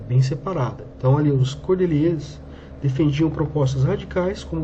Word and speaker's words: Cordelier: meio pronto o nome Cordelier. Então vocês ouçam como é que se fala isso aqui, ó. Cordelier. Tá? É assim que se pronuncia em francês.